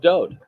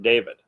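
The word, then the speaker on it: Dowd: set to music of Do he is the Beloved and do is the correct pronunciation of his name it is not David there is no second vowel in his name just one the W and it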